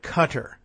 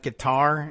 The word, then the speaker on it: Qatar: Justice says that's pronounced like cutter. I like pronouncing it like guitar instead, but cutter, I guess is probably, well, I don't know.